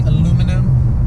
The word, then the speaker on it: aluminum: in this car were aluminium or as you americans say aluminum um that would be